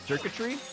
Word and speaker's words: circuitry: That's how you pronounce circuitry. Yeah. It's like, you know, like it's electric, right? So, it's circuits like circuitry.